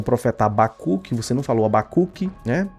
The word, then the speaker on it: Habacuque: Ele pronunciou 2 vezes errado e diz que é o certo. O certo é Abacuque.